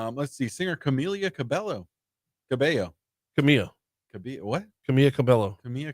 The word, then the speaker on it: Cabello: Cabello. Camilla. What? Camilla Cabello. Camilla Cabello. Or is it? See? Yeah. One of them you don't pronounce the L's, the other one you do.